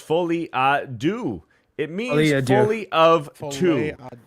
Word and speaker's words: folie à deux: Folie à dos is pronounced folie à deux.